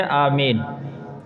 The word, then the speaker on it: آمین: لفظ ہے۔ صحیح لفظ یہ ہے آمین، یعنی یہاں مد نہیں ہے، صرف کھڑی زبر ہے، تو اس کو اتنا ہی کھینچا جائے جتنا، اس کو بہت زیادہ کھینچنا یہ لفظ بگڑ جاتا ہے، تلفظ کی ادائیگی غلط ہو جاتی ہے۔ کہیں گے غیر